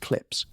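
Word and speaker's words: CLPS: NASA's commercial lunar payload services program, known by its abbreviation, which is pronounced clips, has been sending robotic landers to the lunar surface.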